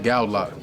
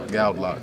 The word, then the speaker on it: Goudelock: even said nothing but how do you pronounce your name gal loock gal loock so hopefully you guys